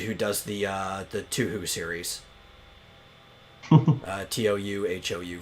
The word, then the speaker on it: Touhou: Touhou for the Touhou. People pronounce it different ways. Toho.